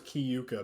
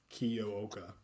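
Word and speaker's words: Kiyooka: I thought it was Kiuka, but they were pronouncing it Kioa. Kioa. Okay. Yeah, Kioa.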